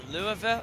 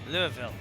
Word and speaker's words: Louisville: How do they pronounce Louisville? Is it They like like like slurred all together.